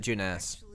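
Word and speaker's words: Junes: place some place inside jeunesse hell no it isn't i mean oh no they actually pronounce it jeunesse okay here i thought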